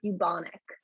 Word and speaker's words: bubonic: plague okay so you should be pronouncing it the uh bu like as if there's a y after bubonic okay that is the